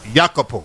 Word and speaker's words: Iakopo: tune on iTunes so it's yakoo yeah so it's I a k o p o That's Instagram yakoo music